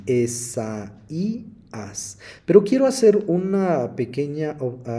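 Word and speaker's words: Ἠσαΐας: en hebreo y está el nombre e Isa y se pronuncia así Esa ias pero quiero hacer una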